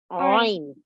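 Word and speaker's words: ع: Softly pronounced from the middle of the throat, a typical letter of Arabic, a letter of the throat. Ain. Yes, Ain.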